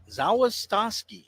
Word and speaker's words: Zawistoski: As the Swords will go to the bullpen and bring in a left-hander, Max Zawistoski. Zawistoski. Zawistoski. Just learned that just now. It wasn't on our pronunciation.